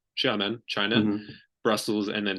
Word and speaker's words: Xiamen: pronounce that? Xiamen. Xiamen, China, Mhm.